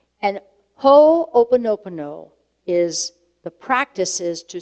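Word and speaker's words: Hoʻoponopono: or two weeks of talks few years ago ho opono pono that is a hawaiian term ho you may spear pronounced ho opa-nopano okay it's got a lot of opal nobody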